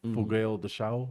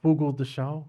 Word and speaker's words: Fogo de Chão: The culture, the history, the food is unique because in America we got Brazilian barbecue, fogueiro de chão.